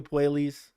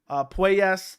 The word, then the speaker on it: Puelles: I keep calling him Claudio Puelles, but I think it's Puelles.